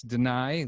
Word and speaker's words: Danay: am pronouncing it right it's deny like uh like what a judge might do is deny it yes that is correct